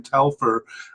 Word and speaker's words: Telfer: Two candidates at the possible level, but we've already said Ryan Telfer, sorry, I've been pronouncing his name wrong. Ryan Telfer just making the preliminary squad there.